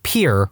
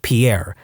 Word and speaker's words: Pierre: capital of South Dakota Pier wrong. She kept saying Pierre, two syllables, like the French name, and he said it was pier, one syllable, like what you fish off of.